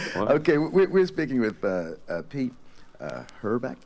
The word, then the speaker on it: Hoorelbeke: Okay, we're speaking with Pete Hoorelbeke? Hoorelbeke. Hoorelbeke. I knew I was going to mispronounce that.